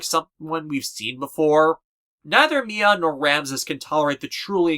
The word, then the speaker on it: Mian: known as Mia Hawa though the kanji her name is spelled with in the Japanese version implies her name is supposed to be Mian m-i-a-n without the g at the end you know like the sound a cat makes and doesn't Yang look